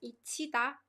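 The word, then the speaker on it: 잊히다: It's pronounced like 이치다.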